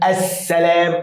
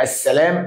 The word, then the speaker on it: السلام: ولا يوجد شده طب اقول لك السلام اه السلام اللام لم تنطق ويوجد شده يبقى هذه شمسيه سؤالنا التاني بيقول بقى